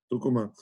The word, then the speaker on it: Tucumán: só falar que ele nasceu em tucumán Tucuman ela é a pronúncia em espanhol mas foi muito bom